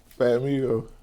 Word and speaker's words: Fat Migo: the correct way to pronounce your stage name fat Migo do people mispronounce this hell no PL this simple fat Meo do people misspell it no no do you accept any abbreviations